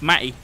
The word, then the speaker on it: Mattie: called me messy or as is pronounced up here in the north Mattie it's not T sound and it's just Matt it's like ma ye may where's the pistol Oh